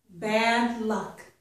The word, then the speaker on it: bad luck: for you three expressions bad luck stress on both syllables padlock stress on the